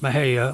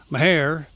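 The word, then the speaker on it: Mexia: The city of Maha, yes, that's pronounced Maha, although you will find some of the longtime locals pronounce it Mahair.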